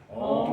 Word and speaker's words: Om: Om Namo Bhagavate Vasudevaya. So what does that mean? Om, Om. Om is the Omkara. That's the syllable for God. Om. It's actually pronounced I-U-M, like Amen.